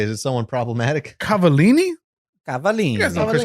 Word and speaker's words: Cavallini: to this because I don't know how to pronounce his last name. I was gonna say, is it someone problematic? Cavallini.